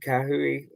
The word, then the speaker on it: Kahui: the bench richard uh forgive me on the pronunciation richard kahui um perfect who was who was um from